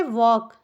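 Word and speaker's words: walk: लगा दिए ठीक है यल साइलेंट है के को का लिखे तो वक हो गया वक मतलब हो गया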